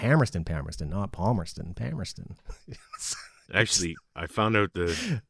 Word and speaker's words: Palmerston: and Palmer Pon yeah they don't pronounce the L okay which is true